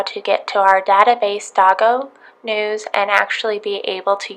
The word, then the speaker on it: DOGOnews: to where it says DOGOnews. You can also pronounce this Dogo, however you want to pronounce it.